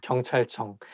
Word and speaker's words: 경찰청: So I think it's because CH sound, like when it's placed next to each other, I think it's going to make the word not easy to pronounce. 경찰청, 경찰청. And it also has 이응, 응 sound at the end of each character. So 경찰청. 경찰청 청창살은 왜 청창살이냐 쌀청창살이냐 something like that.